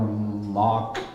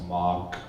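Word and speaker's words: Mogk: And then by Matt Mogg, or Mock, it's Mogg. How do you say M-O-G-K?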